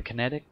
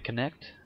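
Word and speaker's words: Kinect: on uh playing with the kinetic or the connect that's PR the correct pronunciation uh yeah so I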